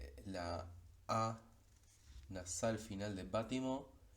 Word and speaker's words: bâtiment: El siguiente ejemplo se pronunciaría c'est un bâtiment en construction. En este caso, aunque aparezca una T al final de bâtiment, esa T es muda y lo que se